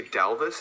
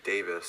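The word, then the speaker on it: Dāvis: focal point but it's davis bertans for the washington wizards he's he's good he's a good player 17 again should you say dalvis i think you mean davis i said it's davis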